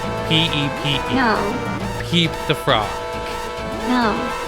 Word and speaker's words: Pepe: Anyway, if meme was pronounced meme, then Pepe, the frog, should be pronounced Peep. P-E-P-E.